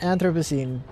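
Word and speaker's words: Anthropocene: Pronounce. All right. Anthroposine. Anthroposine. Anthroposine. Anthroposine. All right. Post lament. Anthroposine.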